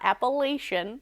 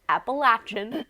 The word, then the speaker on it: Appalachian: was Appalachian State and yes I'm pronouncing it correctly it is not appellation that's what I say Appalachian you get a lesson